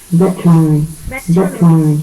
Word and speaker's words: veterinary: Cô đọc từ này nhá. Veterinary. Tức là bỏ qua cái âm E này nè mọi người này. Có đến âm này luôn, còn chữ Y này không phải trọng âm thì chữ này âm ơ này.